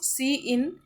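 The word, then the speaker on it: cin: यूस the insert operator सी इन is pronounced सी इन इट is used for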